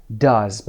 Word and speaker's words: does: من انجام میدم he, she, it باید فعل does. ببینید تلفظ رو هم ببینید صدای I کوتاه مثل bus, up.